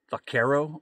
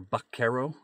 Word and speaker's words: Vaquero: surroundings in the b-roll vakero OR bakero is how you'd pronounce this one so this fragrance was